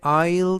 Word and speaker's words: aisle: 이때 aisle 이라는 단어에서 S는 묵음이라 발음이 되지 않고요. 그래서 aisle 이라고 발음하시면 되겠습니다.